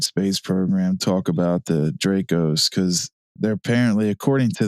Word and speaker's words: Draco: Draco.